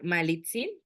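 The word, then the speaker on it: Malintzin: y bueno en primera que malinche ni siquiera era su nombre no era malitsin pero pues como no lo podían pronunciar bien los españoles se fue modificando y a la hora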